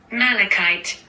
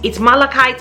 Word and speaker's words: malachite: right it was malachite alexa how do you pronounce malachite i pronounced that malachite but i'm always working on how i say things and i might not have it right so alexa has said it google has said it it's malachite it's malachite okay so